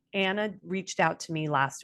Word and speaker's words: Ana: If you only have one N, it is Anna, but in Spanish it's Ana. So I prefer Anna, like if it had 2 N's, but yeah.